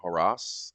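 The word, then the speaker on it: Harras: Chris Colin versus Norman haras I would imagine how it would be pronounced with the yeah harash yeah okay just making sure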